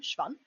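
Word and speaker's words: Schwann: just referred to as shiobon cells. Uh, and that is the German pronunciation because the guy who discovered them was German, hence his last name, Schvon.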